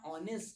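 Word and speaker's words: honest: इसे पढ़ते हैं ऑनेस्ट। क्योंकि भाई साहब एच यहां पर जो है वो साइलेंट है।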